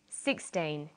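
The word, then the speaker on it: sixteen: say 16 or 60 usually the first syllable in a number is stressed 16 60 notice that it's the final n in teen that you have to be careful with teen T but of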